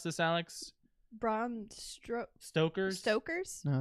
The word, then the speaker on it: Bram Stoker: like Braun or Bram Stoker. Bram Stoker. Bram Stoker. Bram Stoker's Dracula. Not Stroker. Bramstoker. That's what I said. The R is in the first name.